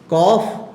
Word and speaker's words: cough: ठीक है, ये अब ध्यान रखना है, this is कॉफ एंड ट्रॉफ in British English, but in North American English the pronunciation of these two words is cough and trough.